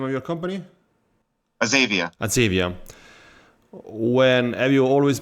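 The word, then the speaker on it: Azavea: During your 20 years at Azavia, how you pronounce it? The name of your company? Azavia.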